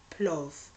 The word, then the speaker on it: plov: their cuisine okay so here is the list plov plus is spelt p-l-o-v okay clothes and this is how